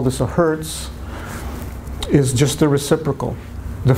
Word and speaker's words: Hertz: it what's this one Hertz right it's not one hurt I actually heard a